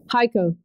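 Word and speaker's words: Hico: home office Church so how do you say it correctly HIC Oh Texas hiko that's how you say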